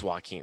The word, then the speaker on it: Joaquin: Oh, it is Joaquin. That's what I said the first time. Yeah, I don't know anybody that would pronounce that Joaquin.